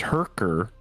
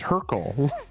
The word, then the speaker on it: Hurkyl: the card is pronounced Hurker, and it's Hurkyl. Hurkyl, I hardly know her. I think you think it says Hurker. It doesn't.